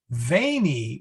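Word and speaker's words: veni: here so be patient veneo with a short e is i come vainy with a long e is i came now fortunately the the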